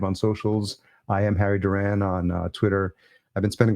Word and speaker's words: Duran: dating myself as well it's like dur the band Duran Duran but that's a 80s